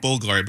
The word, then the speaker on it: Bulgari: You say it Bulgari, but they made it that U like a V.